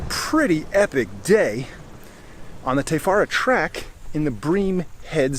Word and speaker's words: Te Whara: should be a pretty epic day on the te fara track in the brem head scenic reserve incidentally something i just wanted to mention tefara is spelled wh the far apart but in the